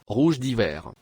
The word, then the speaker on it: Rouge d'hiver: So thankfully, some of the commenters recently have spelled out phonetically how to pronounce the variety correctly in the comments. So here it goes. Rouge d'hiver.